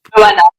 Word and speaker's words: Johanna: Joanna. Yeah, in French we actually don't pronounce the H, but Oh, you can say whatever you want.